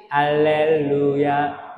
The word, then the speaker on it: 할렐루야: 돼요 자 다시 시작 할렐루야 루 할 때 루 할 때 입술 뽀뽀 루루 뽀뽀이 입술로 해야지 루 발음이 됩니다 할렐루야 할렐루야 할렐루야 할렐루야